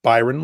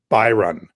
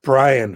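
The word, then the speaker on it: Biran: printed my first name it's pronounced byron like lord byron but it's spelled make sure you get this right write it down b i r a n by run not brian for god's sake brian's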